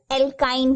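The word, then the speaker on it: alkyne: इसका pronunciation एल्काइन है, याद रखिए.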